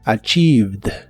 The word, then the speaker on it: achieved: Es similar a la forma del presente, solo que aquí termina con ed, aunque solo pronuncias la D. Así que es achieved. Achieved.